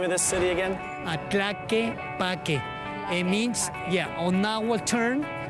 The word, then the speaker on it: Tlaquepaque: How do you pronounce the name of this city again? Tlaquepaque.